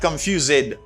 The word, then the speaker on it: confused: This ED pronounced as a D sound, not confused. No. It's confused. It's D sound.